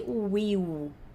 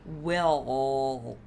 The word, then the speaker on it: will: Isso daqui não vai ter som de will, igual você fez a vida inteira. Isso vai ter som de will.